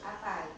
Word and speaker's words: apay: Apay. Apay. Spell it.